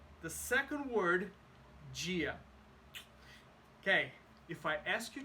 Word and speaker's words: dia: think about this Gia there's no j there is just d i a but when you have the combination of D and I you don't say d you say G don't ask me why I do not have that answer but it happens so if you say bondia you sound like a uh from a very specific region of Brazil or from Portugal Import in Brazilian Portuguese